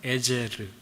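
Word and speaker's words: עזר: 돌입니다 히브리어로에는 돌이라는 뜻이고요 에셀 히브리 발음으로는 에제르 에르는 도움이라는 뜻입니다 그래서이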